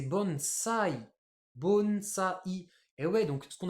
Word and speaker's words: bonsaï: un pot là nous on appelle ça un bonsaï mais en japonais c'est bon ça I et ouais donc ce